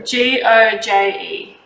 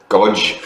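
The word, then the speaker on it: Goje: G-O-J-E. G-O-J-E. Okay, GoJ, yeah. I would have looked at the word and pronounced it Godge.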